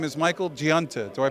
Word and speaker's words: Michael Giunta: His name is Michael Giunta. Do I pronounce it right? Yes, Michael Giunta, not only a Newark fireman for over 25